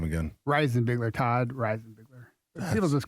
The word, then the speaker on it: Reisenbigler: Reisenbigler, Todd Reisenbigler.